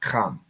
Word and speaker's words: Ham: The nation Ham is actually pronounced Kham. It's a Ka and a Ma.